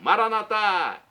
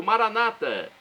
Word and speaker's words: Maranata: E agora eu clamo do aramaico, Maranatá, como dizemos nós católicos, ou Maranata, como dizem nossos irmãos separados, os evangélicos ou protestantes. É a pronúncia, né, dupla do aramaico dialeto de Jesus.